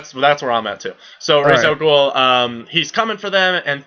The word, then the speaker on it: Ra's al Ghul: But he comes in, he starts talking to him about Thea, and Ra's al Ghul is coming. How do you pronounce it, by the way? Ra's al Ghul? Ra's al Ghul? I say Raish just because Me that's too.